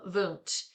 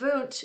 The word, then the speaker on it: Wundt: This is Wilhelm Wundt, and it's, you know, he was German, so the W is pronounced V, and he explored the structures of consciousness.